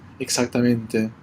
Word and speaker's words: exactamente: It sounds good, exacta, but keep that even more X than GZ, exactamente.